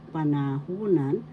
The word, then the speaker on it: panahunan: u and fourth syllable The third syllable has the accent so you pronounce this panahunan that is tense nakaraan